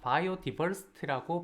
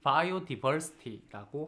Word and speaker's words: biodiversity: 자, biodiversity 혹은 자, biodiversity라고 발음하시는 분도 되게 많습니다. 이 di 사운드를 biodiversity라고 하시는 분도 진짜 많아요. biodiversity 하셔도 됩니다. die 하셔도 되고 d라고 발음하셔도 괜찮습니다.